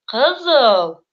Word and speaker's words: кызыл: Ударение в татарских словах всегда падает на последний слог. Это уже проще, в отличие от русского языка, где ударение просто прыгает со слога на слог. Например, мисал «матур», «кызыл».